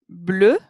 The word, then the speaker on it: bleu: Bleu, which takes an E when it's feminine, but it's pronounced the same way.